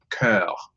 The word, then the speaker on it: Jolicoeur: How do you is it Jolicoeur? How do you say it? You don't say it in any way like that. Huh? Jolie was good, yes, but say cœur, cœur.